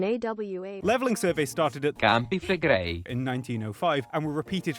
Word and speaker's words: Campi Flegrei: The movement is impressive, but the inch or so a year Yellowstone moves pales in comparison to campy fleg. It's pronounced Campi Flegrei.